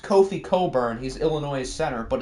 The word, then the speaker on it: Cockburn: It's pronounced Kofi Coburn.